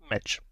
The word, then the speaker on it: meč: And how do you say that in Slovak? You say it meč.